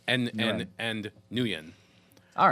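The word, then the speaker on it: Nguyen: uh Justin or Dustin nuan nuan is the proper pronunciation I had to look that one up um for his name I was going to say Guan but I'm like that's not right that was my first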